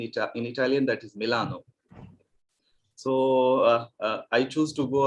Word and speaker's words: Milano: or to use the uh no the italian pronunciation of rome that is roma or venezia venice is venezia in italian and then milano which is in ita in italian that is milano so i choose to go away with the